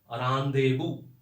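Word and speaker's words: rendezvous: इसको बोलते हैं रानदेबू, मिलने का स्थल। इसका स्पेलिंग करेक्ट है, इसमें कोई चेंजेस नहीं किया है मैंने जानबूझ के, है ना। रानदेबू बोला जाता है इसको, मिलने का स्थल,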